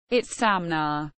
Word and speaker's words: Itzamna: is Amna Mayan pronunciation it's samna was in my mythology the name of an